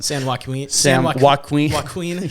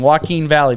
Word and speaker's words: Joaquin: butchered for that one San Juan Queen yeah boy it's uh Joaquin Phoenix so it's kind of like his name Joaquin Valley maybe that's what it is yeah uh I don't